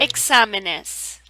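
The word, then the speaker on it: exámenes: examinus which means exams ends in the letter s so this breaks rule one when it comes to the stress because the accent mark is on the a which is on the second syllable here's another example the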